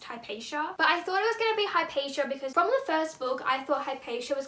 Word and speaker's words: Hypatia: My first guess was that it was going to be Hypaxia. Actually, I think her name is actually pronounced Hypatia, but I thought it